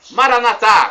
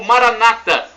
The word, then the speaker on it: Maranata: aramaico dialeto de Jesus clamamos Maranatha como dizemos nós católicos ou Maranata com a tônica na penúltima sílaba como dizem nossos irmãos separados dos Evangélicos ou cristãos não importa